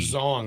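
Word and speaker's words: Xiong: the authors please uh how do you pronounce x i o n g zong zong along with Morrison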